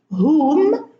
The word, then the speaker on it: whom: Who, whom, whose, whole. Now, who, whom, whose, these are question words. and the W here is silent, and we pronounce the H.